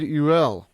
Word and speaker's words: Ulliel: This past week we lost French actor and Marvel actor Gaspard Ulliel, ULL, I think is how you pronounce his last name, who passed away this past week at the age of 37 in a ski accident.